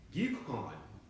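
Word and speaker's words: גיחון: the second river is pronounce this in Hebrew, Gikon, and that's the Gimel, the Yod, the Ket, the U, and the Nun.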